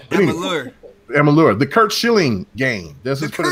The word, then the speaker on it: Amalur: Kingdom of Alamar, I think how you pronounce that. But Amalur.